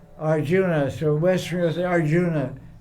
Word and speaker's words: Arjun: guy doesn't speak so it's called s Arjun it's spelled Arjuna so West Arjuna it's not it's not correct